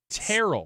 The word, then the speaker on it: Terrell: Terrell? He said it's like Carol. Terrell. Like sterile without the S.